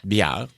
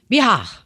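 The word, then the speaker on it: Bihar: Biar mais comment tu le prononcerais ? B I H A R Biar Biar.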